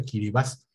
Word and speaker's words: Kiribati: postal en que vivas se escribe de kiribati pero alguien me corrigió algunas veces se pronuncia aquí vivas en el en el